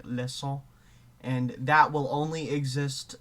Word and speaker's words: leçon: There's a C with a Sadija, which is pronounced as a S sound all the time, so like leçon, and that will only exist before I think it's weak.